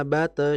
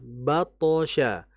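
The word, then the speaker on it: بطش: Karena ada huruf qalqalah yang tebal di antaranya huruf th ini, maka jangan kita membacanya inna bate syarabe. Bukan bate kalau bate ya tipis thnya pantulannya sudah betul tapi tipis itu harusnya bathosya.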